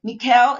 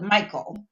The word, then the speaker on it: Michal: So, some people call it Michael, but I looked up the Hebrew pronunciation and it's Mikuel.